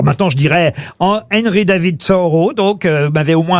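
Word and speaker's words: Thoreau: tout ça pourquoi pour acquérir des poignées de porte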